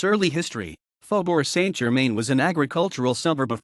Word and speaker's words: Faubourg Saint-Germain: Faubourg Saint-Germain, French pronunciation, Faubourg Saint-Germain, is a historic district of Paris, France.